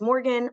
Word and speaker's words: Morgan: say my name is Morgan rhymes with Oregon Oregan Morgan you can't